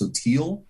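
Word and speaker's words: sottile: It's actually it's pronounced sotil, and it's Italian for shallow.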